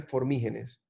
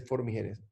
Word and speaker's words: formigenes: bacteria que se llama Oxalobacter formígenes o formigenes, porque si no lleva tilde debería ser formigenes, Oxalobacter formigenes.